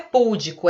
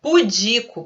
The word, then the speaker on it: pudico: Não é púdico, é pudico, paroxítona.